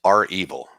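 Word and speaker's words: REvil: uh first of all i've found that it's pronounced our evil and i know that because that's what rachel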